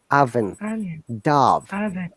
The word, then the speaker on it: oven: you have just mispronounced it is onion it is not o in the als all of these o letters are pronounced as a sound ah onion oven these are common words